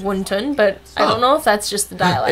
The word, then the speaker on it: wonton: of wonton are you eating the once it's pronounced actually wonton because I feel like my grandma always said wunton but I don't know if that's just the